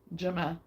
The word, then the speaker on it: Gemma: that last round the G and your name makes a j sound okay thank you for